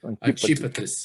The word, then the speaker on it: Antipatris: Como é que você pronuncia? Antipatris? Isso. Ok. Antípatris.